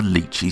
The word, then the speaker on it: Lychee: bit i will just say i'm using the lychee slicer here and yes i have pronounced that properly i reviewed this slicer recently